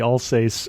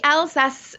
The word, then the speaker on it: Alsace: something because I think I said the all say uh was the first thing I said came out of my mouth when we started talking and I was saying it wrong where are we talking